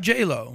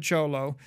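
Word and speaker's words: Jho Low: Who was Jolo? Yeah. Jolo, not J-Lo.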